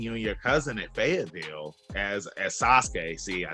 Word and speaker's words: Sasuke: So, because I want to say it was cool seeing you and your cousin at Fayetteville as Sasuke.